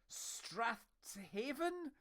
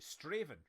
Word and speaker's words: Strathaven: Ah, you see, everyone else in chat is reading that and they're saying Strathaven. How do you? And I'm like Straven, right?